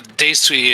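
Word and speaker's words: 泥酔: Yeah, the Daisui is how you pronounce the kanji they use for it, which just means being in a drunken stupor.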